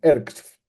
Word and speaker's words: EEHRxF: que le pusieron EEHRXF, que se pronuncia ERXF.